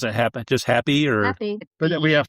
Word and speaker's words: HapBE: Because, we say it's happy, but you drop the PY and you change it to BE, like being and not doing.